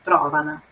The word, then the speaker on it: trovano: O tro è a sillaba tonica. È a primeira sílaba, então é se trovano, trovano, não trovano. I libri si trovano nella biblioteca della scuola.